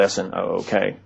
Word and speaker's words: Snook: Snook, who, or some, you could pronounce it Snook. It's spelled S-N-O-O-K. As far as I know, the correct pronunciation is Snook.